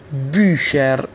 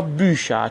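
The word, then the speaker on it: Bücher: دقت کنید اینجا چون قبل از تی ها اوملاوت اومده دیگه تی ها رو همون ش میخونیم، بوشر یا بوشا، چون در ادامه خواهم گفت که وقتی که آر یا همون ار در آلمانی حرف آخر باشه معمولا به صورت آ تلفظ میشه. اگه به صورت همون ار هم تلفظ کنیم مشکلی نداره، درسته، اما به صورت آ غالبا تلفظ میشه، پس خونده میشه بوشر.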